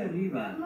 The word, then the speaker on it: arriba: Los próximos tres garajes están muy arriba. Así que tenemos que mirar arriba. Muy arriba. Is up. Arriba. You say it with a rolling R. Arriba. Arriba. Yeah, roll your tongue, roll your R.